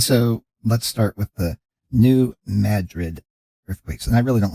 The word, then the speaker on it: New Madrid: let's start with the New Madrid earthquakes and I really don't like the pronunciation of that since I always think of that spelling as in Madrid Spain but this is a